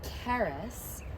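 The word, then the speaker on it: Charis: Her name is Karis, and it's spelled, her tag is here, C-H-A-R-I-S.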